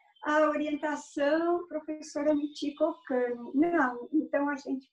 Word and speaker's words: Michiko: Então, o meu nome é Michiko, mas se escreve Michiko, porque a transcrição é por meio... Eu sou japonesa, vim para cá com 8 anos, então, quando se faz a transcrição, transcreve-se CHI com o som de ti.